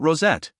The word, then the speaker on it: Rosette: think so what about rosette Rosette he said the name slowly turning it into two distinct syllables that's beautiful it's done